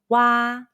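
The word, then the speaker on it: 挖: It's like the WA in the English word water, but over-exaggerate the ah by opening your mouth as wide as possible.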